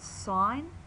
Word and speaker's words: sin: got an abbreviation to we just knock off the E we we bring these down all to threel names it's still pronounced sign you must put in